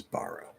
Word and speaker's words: borrow: The way we pronounce borrow is borrow. Okay, it's your question is based on an illusion.